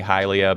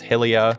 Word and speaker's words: Hylia: and hylia as well I say hylia because that's Hyrule some people say it's Helia and some people pronounce the